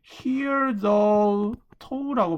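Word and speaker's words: hitherto: 역사적인 중요성을 hear the toll라고 발음이 되거든요. hear the toll.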